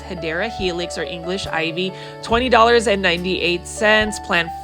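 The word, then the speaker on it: Hedera helix: You can see that this is the first Hedra Helix or the correct way to say it is Hideera Helix or English ivy.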